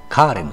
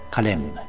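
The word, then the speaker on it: Carême: まずは名前から日本ではカーレムとかカレーむと呼びますが辞書に書かれている国際音響文字ではカレンと発音するようになっています私たち日本人に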